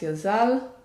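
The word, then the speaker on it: יזל: name is number thirteen it's yud zain lamed pronounced yazal and it is excellent for anyone who feels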